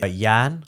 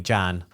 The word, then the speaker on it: Jan: Alright, my real name is Yan, which is spelled Jan, but it's pronounced Yan. So people always mispronounce my name. Instead of calling me Yan, they call me Jan.